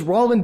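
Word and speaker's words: Raul: myself my name is Rin my first name rhyming with tall which I am which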